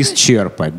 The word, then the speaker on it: исчерпать: Слово вот «исчерпать», вот к сожалению, норма произношения «исчерпать».